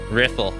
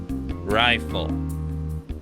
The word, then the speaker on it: Riffle: just peachy now right riffle hey you private second class my name is pronounce rifle rifle it's not that difficult you must learn to